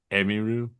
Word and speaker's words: Emiru: Emiru. Emiru. Emiru? Okay. Okay. Thank you. Emiru. Well, that means everyone's been kind of mispronouncing it.